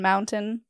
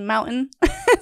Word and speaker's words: mountain: Utah has a very distinct accent and the vowels are kind of lazy and we don't pronounce our T's like in mountain. It's a mountain. Mountain, like, fountain.